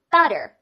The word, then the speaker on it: butter: 字母 u 呢发作 a, a, butter, butter, 看好了，它的意